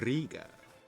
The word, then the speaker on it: Riga: I believe that rolling R is part of the pronunciation Riga.